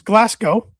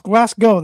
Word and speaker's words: Glasgow: It's Glasgow, not Glasgow. It's Glasgow. That's how it's pronounced.